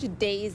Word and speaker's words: DAIS: Just search DAYS, that's spelled DAIS, a little different than it sounds.